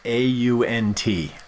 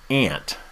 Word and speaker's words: aunt: you call them an a-u-n-t yes right the question is how you pronounce that word is it like the insect ant or is like or is it like you're uh amazed ant or aunt enter on mine i'm